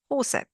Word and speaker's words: Hose: Hose. And it's not pronounced hose. Here again, this is where your pronunciation rules come in. Hose. That's how you want to say it.